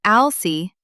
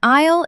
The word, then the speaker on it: aisle: The letter S is silent. We do not say aisle-see. We pronounce it like aisle. An aisle is the long walkway between the shelves of food.